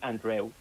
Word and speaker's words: Andreu: It's actually Andreu. Oh, Andreu.